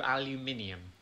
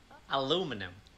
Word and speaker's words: aluminium: a metal aluminum aluminum no aluminium aluminum you're losing a syllable aluminium aluminum i put